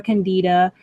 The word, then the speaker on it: Candida: about that um and you can pronounce it candid or candida um so is there